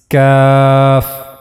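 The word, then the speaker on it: ك: Then the next letter we have is cuff.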